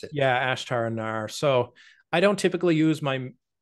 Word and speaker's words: Ashtar Anar: page under um your um channel name right ashar I forget how to pronounce it yeah ashtar andar so I don't typically use my the website